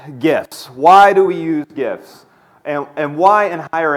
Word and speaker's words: GIF: start let you know I am team hard G I pronounce it gif not jiff thank you but